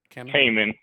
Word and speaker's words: Cayman: Now, how do you pronounce your name? or Cayman? Cayman. Cayman. Cayman. Cayman. The one pronunciation I didn't know.